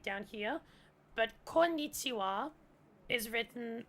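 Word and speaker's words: こんにちは: But konnichiwa is written, the wa is actually written using the ha hiragana, because that is actually a grammar particle where ha is pronounced as wa.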